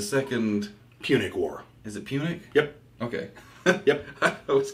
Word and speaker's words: Punic: Is it Punic? Yep. Okay. Yep. I was going to say it wrong. Second Punic War.